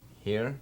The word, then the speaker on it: here: okay, will be a long E because of this E on the end. So it's going to make this guy say its name. Here.